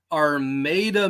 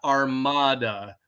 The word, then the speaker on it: Armada: this coming Sunday is in Armada Michigan not Armada we're not Spanish around here there's no Inquisition there's